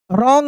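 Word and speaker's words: wrong: रॉन्ग में क्या? W silent है।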